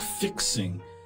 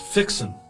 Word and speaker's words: fixing: of speaking it's not fixing it's pronounced fixen with no G on the end uh when you're fixing